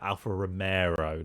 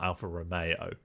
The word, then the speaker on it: Alfa Romeo: she mispronounced it obviously she said Alfa Romero not Alfa Romeo it's just funny and